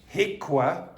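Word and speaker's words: HIQA: HICWA is the pronunciation of that.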